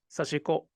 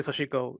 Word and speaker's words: sashiko: So when I speak in Japanese, I would say sashiko, sashiko, sashiko, sashiko. But when I speak in English, I would say sashiko, then that's perfectly fine with me.